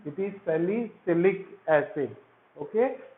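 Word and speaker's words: salicylic acid: जरा स्पेलिंग ठीक से लिखना है और बोलना भी ठीक से है ना। सैलिसिलिक एसिड, ऐसा नहीं CaSaLi, ये क्या होता है, और ये CyLic, अलग अलग नहीं बोलना है, सालिसाइक्लिक नहीं बोलना है वो, है ना।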